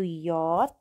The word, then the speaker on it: J: Yang perlu kalian ingat-ingat adalah pengucapan untuk J yaitu yot dan untuk Z yaitu Z.